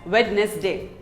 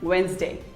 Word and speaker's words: Wednesday: h is silent asma here is another common word that most of us pronounce wrong wednesday most of us say it as wednesday but it is not wednesday it is actually wednesday say wednesday wednesday who doesn't love pizza